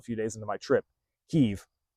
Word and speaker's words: Kyiv: Kyiv is the proper and Ukrainian pronunciation of the capital city of Ukraine. I didn't get told that. I didn't know that until a few days into my trip. Kyiv, Kyiv.